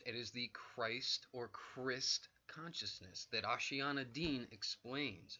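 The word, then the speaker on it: Kryst: is the Christ or Crist justice that Oceana Dean explains she explains that the word Crist is is the actual pronunciation and and spelling of Christ it is K ry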